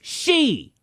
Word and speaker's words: Xi: The man goes by President Xi, Roman numerals for 11. Oh Lord, no. Felix, it's she.